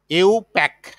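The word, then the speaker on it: IUPAC: তারপরে তোমার আছে যে ইন্টারন্যাশনাল নামটা হলো, এটাকে আমরা সংক্ষেপে বলি, এটা উচ্চারণ করি ইউ, ইউ, ইউ প্যাক, international union of pure and applied chemistry, পুরো মিনিংটা।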